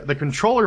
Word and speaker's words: CTRLR: The controller for it has its own name. It's called Controller. It's an acronym. It's the worst thing ever. It's spelled it's CTRLR.